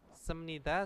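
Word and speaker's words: 습니다: bahasa sat tentang apa semnida sama bep Nida atau Nida gitu ya cara membacanya karena apa B bertemu dengan Nien itu bacanya adalah miem ya bnya itu berubah menjadi m jangan senida ya bukan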